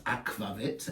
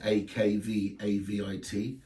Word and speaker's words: Akvavit: Now, Akquavit is spelled Aqavit in English and in French, but it's not how it's spelled in Sweden. It's Akvavit, Akvavit. And even in Norway, it's Akquavit, which is Akevitt. So as long as it sounds like the word, it could be a whole variation of different spellings.